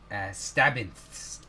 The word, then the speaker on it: Stabbinth: Stabbinth. Yeah, there we go. Kind of like absinthe, but stabby. More stab.